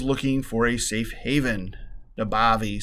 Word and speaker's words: Nabavi: N-A-B-A-V-I, Nabavi. There we go. You gotta say it like you're from Jersey. It's Nabavi.